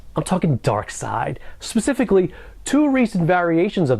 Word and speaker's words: Darkseid: Firstly, his name is pronounced Darkseid, not Darkseid, because Darkseid's probably something that might inspire a porno or something.